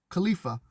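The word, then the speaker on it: Qlipha: The magician, which is you, encounters her in the first Khalifa, that's spelled Q-L-I-P-H-A, Khalifa, Q-L-I-P-H-A, which is named Lilith and is ruled by Nama, her young sister or daughter.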